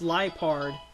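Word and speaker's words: Liepard: out and stuff but I guess it's pronounced liard like a lie you know so Justin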